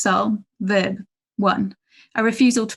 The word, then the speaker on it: SU11: on the unit's window su-11 in brackets pronounced soul verb one a refusal